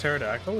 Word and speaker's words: pterodactyl: ask how you pronounce pterodactyle is pterodactyl the p is silent why can you not